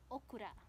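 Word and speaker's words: オクラ: And Japanese ng okra ay okura. No? Pagbigkas lang ang iba.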